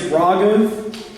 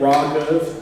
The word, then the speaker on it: Raaghav: Yeah, my name is Raaghav. It is pronounced Ra like ramen, and then Gov like government. Raaghav, 2 syllables, 1 word.